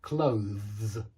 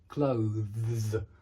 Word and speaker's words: clothes: It's certainly not two syllables. And if you're saying it with two syllables, with two sounds, it's wrong. Make sure you're voicing a kind of deep z at the end. Z, z, z. Clothes, clothes.